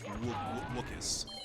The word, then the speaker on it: Wookis: Not Wookie, it's Wookis.